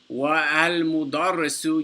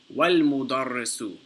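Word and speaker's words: وَالْمُدَرِّسُ: But he's saying that this alif in al-mudarrisu, you don't pronounce it because it is preceded by a waw. So we still write the alif, however it's not pronounced. So you don't say wa-al-mudarrisu, you say wal-mudarrisu.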